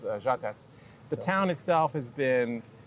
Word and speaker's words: Žatec: In Czech, the word is žatec. Žatec. Žatec, it's more mellifluous. It's a Z with a hook on it that makes it from a Z to a Ž, and it's žatec.